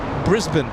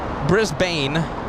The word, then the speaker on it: Brisbane: uh Brisbane is Brisco hold on Brisbane it's Brisbane Brisbane yeah Americans would call it Brisbane what about Sydney but she would call it she says it's uh Brisbane Sydney Sydney Sydney is Sydney yeah okay nothing